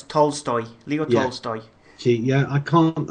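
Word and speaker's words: Tolstoy: it's based on the to stoy uh story did I mispronounce that as well yeah it's tol stoy Leo see yeah I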